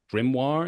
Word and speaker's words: Grimoire: So the record label that you're releasing your music on, if I pronounce this correctly, is Grimoire.